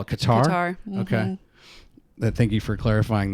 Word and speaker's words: Qatar: is that right um the brits call it cutter what do you call it qatar okay thank you for